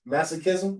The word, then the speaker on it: masochism: How how do you pronounce mass masochism?